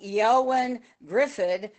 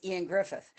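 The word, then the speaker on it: Ioan Gruffudd: was in Fantastic 4 and it looked like Yoan Griffid, but when you actually look at the pronunciation," I said, "It's Ian Griffith."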